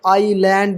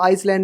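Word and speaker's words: island: भैया in different words जैसे आईलैंड देख लो आइसलैंड नहीं आइल इसमें भी आयल पढ़ेंगे ठीक है ये क्या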